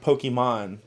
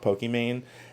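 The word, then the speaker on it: Pokimane: is her her name is supposed to be pronounced Pokemon but the way that it's spelled nobody got that it was supposed to do that so they just call it pokem man and then there was Valkyrie and a a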